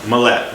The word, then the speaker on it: Millet: I say Mlette. Mallette.